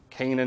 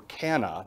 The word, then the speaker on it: Cana: individual was from Cana, not Cana, Cana. Do you remember a wedding, or do you remember a miracle that took place in Cana? No. There was a wedding there, and Jesus turned the water to wine there, and that took place in Cana. Some people pronounce it Cana, it's fine either way.